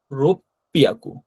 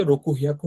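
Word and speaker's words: 六百: আর এই ছোট সুটা দেওয়ার পরে এই পরের যে অক্ষরটা থাকে সেটা ডাবল উচ্চারণ হয়, তাই না। তো রোপিয়াকু হয়েছে। তো রোপিয়াকু কথাটা আলাদা করে মনে রাখতে হবে, যে রোকু হিয়াকু হবে না, রোপিয়াকু হবে, অর্থাৎ যেগুলো ব্যতিক্রম ওগুলো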